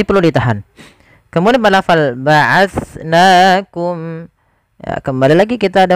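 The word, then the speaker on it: بَعَثْنَاكُمْ: Jangan sampai kita menggantinya dengan ba'ashnakum dengan sin.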